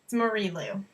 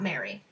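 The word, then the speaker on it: Marie Lu: can't pronounce Marie that's I think that's Marie Lou not Mary thanks Mom so yes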